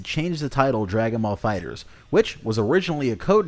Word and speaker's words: FighterZ: it's pronounced Dragon Ball fighters so just pronounce it like you would with an S you hear that so if you see someone saying dragon ma fighter Z fill them in on